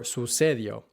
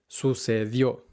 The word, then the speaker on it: sucedió: And the mistake that learners tend to make is putting the emphasis on the second to last syllable instead of the last one, where the accent mark is, saying escribió or sucedió, or escribió or sucedió,